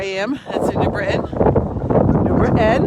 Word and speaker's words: New Britain: New Britain, if you live here. That's how you say it.